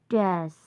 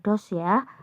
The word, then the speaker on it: does: apa kita menggunakan word Dash bacanya bukan dosya atau dowes ya dash dash World does what